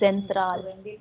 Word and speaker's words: Zentral: So the pronunciation in German is Zentral.